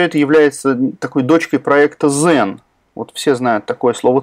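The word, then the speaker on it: Xen: Ну, собственно, уж коль мы заговорили о Citrix и Zen, правильно произносить все-таки Zen.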